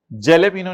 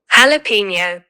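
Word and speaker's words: jalapeño: Falling other summarise statements of financial position of पिस्ताशो mint limited and जेलेपिनो नहीं कहते चपेड़ जे silent होता है।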